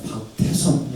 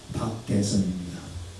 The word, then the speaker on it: 박대선: 박대선수라고 연대 총장님 때문인데요 누구 발음 잘못하면 큰일나요 박태성이 아니라 박대성입니다 그분은 박사학위가 세계가 있습니다